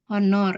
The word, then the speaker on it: honor: jadi begitu pula sebaliknya misalnya kata honor ya ini dibacanya bukan honor tapi tulisannya honor tapi ketika kita pronouns ini kan kata honor ini pengucapannya itu lebih terdengar huruf vokal ya karenanya lebih menggunakan en jadi ini cara membacanya Honor ya jadi soundnya pengucapannya lebih ke huruf vokal dibandingkan huruf konsonan maka dari itu menggunakan